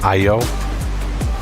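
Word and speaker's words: Aiyo: A I Y O. I think that's how you pronounce it. IO.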